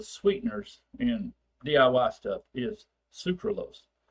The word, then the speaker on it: sucralose: Sucralose, and I'm exaggerating the pronunciation of that, okay, is like an almost an artificial sweetener.